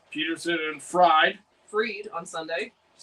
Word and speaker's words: Fried: Freed on Sunday. It's That is how it's spelled.